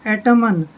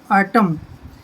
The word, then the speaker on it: autumn: जैसे AUTUMN, वैसे तो बनता है एटमन, लेकिन एन बिल्कुल साइलेंट है, हमने छोड़ देना है, हमने पढ़ना है इसको आटम।